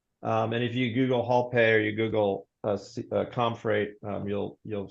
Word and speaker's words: HaulPay: And then our payments and factoring service is called HaulPay, like hauling a load, HAUL pay, HaulPay. And if you Google HaulPay or you Google ComFreight, you'll see our website.